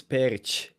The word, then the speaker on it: Perić: It's Perić. That's how you say it in Serbian, but Perić.